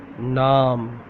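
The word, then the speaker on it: نام: नाम, नून अलिफ ना मीम, नाम, नाम, नाम.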